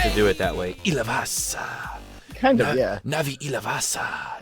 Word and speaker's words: Ilivas: I'm here with the awesome Navi Ilavas. I got to say it correctly. Got to put that accent in there. Ilavas.